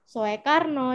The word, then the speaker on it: Soekarno: di Indonesia yaitu Soeharto Soekarno yang benar adalah pembacaannya susu sesuai dengan UU gitu jadi Soekarno ditulisnya sehat Soeharto ditulisnya dibacanya Soeharto gitu jadi oe dibaca nah lanjut untuk materi